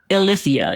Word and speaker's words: Ilithyia: Ilithyia, yep.